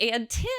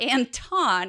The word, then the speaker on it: Anton: And so he's like, by the way, Jackie, just so you know, my name's actually pronounced Anton, not Anton.